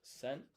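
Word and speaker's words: 千: A thousand is sen.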